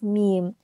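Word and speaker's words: 미음: The fifth consonant is meme. The pronunciation is similar to the English alphabet M, and it makes a sound when the upper and lower lips touch each other.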